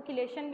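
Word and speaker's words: chelation: उसके बाद जो नेक्स्ट हमारे पास लास्ट वन बचता है फैक्टर, वो है चिलेशन का, जिसको किलेशन भी पढ़ते हैं, जो है वो डिफरेंट प्रोनाउंसिएशन यूज़ की जाती है।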